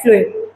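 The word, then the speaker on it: phloem: का काम करता है फ्लोएम। एफ फ्लोएम वैसे पी से स्पेलिंग होती है, बट याद कर सकते हैं फॉर फ्लोएम एंड for food.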